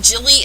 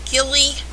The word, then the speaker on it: Gilly: note gilly and gendry the two most strangely pronounced names hard g's and yes i've heard people call them jilly and gendry yeah it